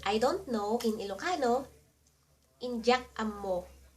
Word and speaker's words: Indyak ammo: To say I don't know in Ilocano, Indyak ammo In dyak (say it like jack) am mo Indyak ammo In dyak dyak am mo Indyak ammo And what about I know?